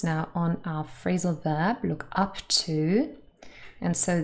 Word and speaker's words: look up to: And we want to focus now on our phrasal verb, look up to. And so this phrasal verb has two particle, and the first one is stressed.